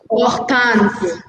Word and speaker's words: Hortense: The pronunciation is Hortense. Oltanse.